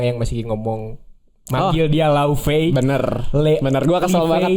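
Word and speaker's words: Laufey: jadi pronunciation I pron tulisannya sih kan emang l a u f e y tapi itu tuh Bahasa bu laufei bukan lufe bukan Le Nah kalau kalian ngikutin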